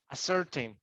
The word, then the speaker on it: ascertain: Ascertain or ascertain. Tain. The word tain has the intonation.